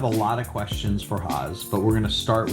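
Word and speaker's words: Hoz: It's It's Haz, but because of the difficulty of my name, I just go by Haz, H O Z. And um I I'm have a lot of questions for Haz, but we're going to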